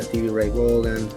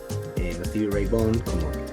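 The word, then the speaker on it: Stevie Ray Vaughan: Y luego empecé a escuchar a Gary More, a Stevie Ray Bogan, Stevie Ray Bond, como en realidad se pronuncia, este que fue como mi maestro inspirador así de la guitarra.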